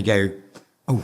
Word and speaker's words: GU: you know and they go oh God I love that BR yeah so but they might be thinking g o and then they see it oh goo is that how you pronounce it so that's that